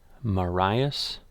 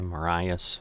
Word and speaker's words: Marias: and the rv jets marius pass series i figured out i was saying it wrong um mariah's river the marias pass so i think i was saying marius but um anyway scenario 12.